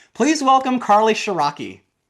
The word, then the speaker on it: Ciarrocchi: Please welcome Carly Sharaki.